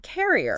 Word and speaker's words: carrier: But for carrier, like someone who carries something, the stress jumps to the front.